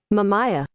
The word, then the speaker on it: Mamaia: I believe I am actually pronouncing it correctly. Let's see. Let's listen what Prepare your ears. Mamaia.